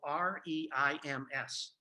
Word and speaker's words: Reims: an arrow to a town spelled R-E-I-M-S, and that's actually pronounced Reims in French.